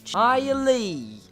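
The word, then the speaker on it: Hialeah: not in this city it's spelled hia le aah highly highly I must say hi Ellie in HI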